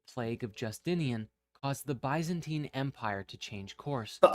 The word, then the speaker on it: Byzantine: of Justinian caused the Byzantine Empire to change course but I'm sorry what fox epidemic I'm sorry Dapper Dapper did he just say bantine yes he did he did mispronounce Byzantine I might actually from